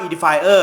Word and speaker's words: Edifier: ว่า ชื่อ ว่า edifierer บาง ท่าน อ่าน ไม่ ถูก นะ ฮะ อ่าน ว่า edifi เรา ก็ งง เฮ้ย งง ยี่ห้อ นี้ เว็บ พี่ ช้าง แอบ ลง รึ เปล่า ไม่ เจอ เออ นะ ครับ คือ อ่าน ว่า edifierer นะ ครับ ครับ ผม ครับ